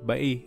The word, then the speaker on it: Bay: laguna de Bai at Oo Bai o a ang bigkas dito at hindi ang Ingles na bay nagmula kasi ito sa